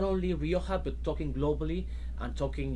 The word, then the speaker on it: Rioja: of the wonderful wines of El Coto de Rioja. Did I say that correctly? You said perfectly. Perfectly. Very good Spanish pronunciation.